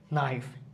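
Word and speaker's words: knife: এবং এন ওয়ার্ডের শুরুতে আছে এখানে কেটাকে আমাদের সাইলেন্ট রাখতে হচ্ছে নীল নীল নীল নেক্সট হচ্ছে কে নিউ নিউ নিউ নিউ নাইফ কে এন আই এফই নাইফ night need K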